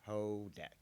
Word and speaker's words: Houdek: with the guest hodak am i pronouncing that correctly kodak hoda pretend to use not there pretend the you is not there ho deck hoe deck hoe deck and uh